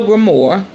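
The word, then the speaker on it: grimoire: cauldron journal in your grimor your grimor the Grim that's how you say it grimo that is your um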